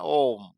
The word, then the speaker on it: ohm: It is not ohm. oh, Ohm. It is after the name of George Ohm. H-টা silent থাকবে। হালকা উচ্চারণ হবে।